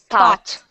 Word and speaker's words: though: say that food thought thought thought okay so even though this difference is only one letter though does not have a t at the end thought has a t